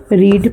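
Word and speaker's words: read: पर इन दोनों को हम पढ़ते हैं रेड और रेड। यानी उच्चारण जो है इसकी क्या विशेषता हो गई? तीनों में स्पेलिंग एक सी है। पर उच्चारण फर्स्ट का रीड, सेकंड का रेड और थर्ड का भी रेड।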